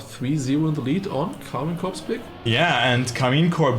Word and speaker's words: Karmine Corp: Like, I pronounce it like like a German word, so, you know, I shouldn't do that. I should say KARMINE Corp.